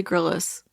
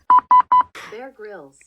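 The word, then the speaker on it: Grylls: is it know I've always heard everyone say Gillis is it is it really grills am I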